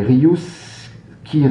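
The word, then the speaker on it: riuscire: gre fera moins savant je vais essayer de prononcer le mot en italien avec l'accent qui me caractérise euh et ce mot est rus quiir alors ça s'écrit r i u s C i r e euh et qui veut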